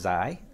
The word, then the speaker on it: Zay: Zay, so actually, this is Zay. That's the way it's pronounced locally.